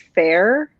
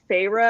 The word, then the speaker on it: Feyre: first started the book, and I read her name as Fair. And I'm like, that's cool. And then I realized it was Feyre, and I was like, nah, that's stupid.